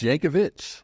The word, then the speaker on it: Yankovic: I don't know if I know how to pronounce your last name and I bounced between Yankovich and Yankovic it's Yankovich with a all right right let that let